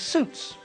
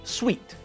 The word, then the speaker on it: suit: It's pronounced suit, not sweet.